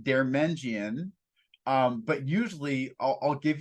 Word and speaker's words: Deirmendjian: mean you pronounce my my last name is pronounced dermenjian um but usually I'll give you a fun